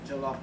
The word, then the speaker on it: Jollof: So I'm gonna spell it. It's Jollof.